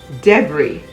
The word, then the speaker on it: debris: raspberry receipt psychic silent s words i'll a-i-s-l-e debris d-e-b-r-i-s island i-s-l-a-n-d il i-s-l-e you would note